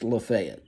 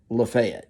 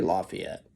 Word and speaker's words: Lafayette: around here in Tennessee and Georgia it is pronounced lefet spelled like Lafayette down in Louisiana and it is pronounced Lafayette and they will correct you around here if you say Lafayette uh his mother was was 30 and her